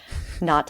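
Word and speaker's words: Knott: based on Frederick canat not I know it's I I always like to pronounce I think I think the second T is silent indeed so yeah and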